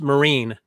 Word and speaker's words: Marion: issues by the way his name is pronounced maureen no maureen okay and he and and